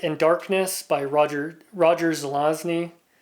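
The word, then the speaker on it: Zelazny: darkness by Roger Roger zelosny I always try to reverse the Z and the n and so I have to make a concerted effort to pronounce his last name right this is an Avon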